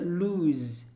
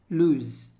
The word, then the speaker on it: lose: l o s e only one o it's a lose lose don't lose your wallet